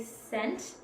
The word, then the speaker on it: cent: Socastee because even though when we say cent we use the S sound it's actually spelled with the C I know that's kind